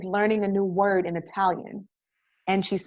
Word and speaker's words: Italia: says we're moving to italia and it has the correct pronunciation for students because that's how the italians say italy the army needs us